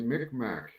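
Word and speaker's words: Mi'kmaq: yeah Wikipedia it's pronounced people pronounce it as Mick Mack yeah I've got it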